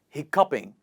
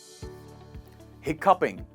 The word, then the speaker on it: hiccoughing: Next and the last is hiccoughing, o-u-g-h is pronounced as /kp/ here. How do we say it? Hiccoughing, hiccoughing… one more time hiccoughing.